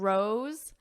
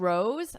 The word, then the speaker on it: rose: So here, dose and rose have the exact same vowel sound. It's that O, but the SE is pronounced differently. Dose with an S, rose. Z, z. So you hear a Z, a buzzing because it's a voiced sound.